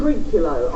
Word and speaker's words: Trinculo: And you play, is it Tulica? How do you say it, Captain? Trinculo.